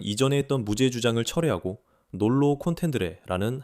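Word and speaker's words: nolo contendere: 재판까지 그녀는 이전에 했던 무죄 주장을 철하고 놀로 콘텐드레라는 항변을 했기 때문입니다. 제가 전에 놀라카텐드레라고 잘못 발음했는데 이번엔 제대로 말한 것 같아요.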